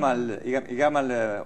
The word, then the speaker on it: Gamal: Omar Suleimán y gam gamal o yamal se pronuncia en árabe este mubarak no los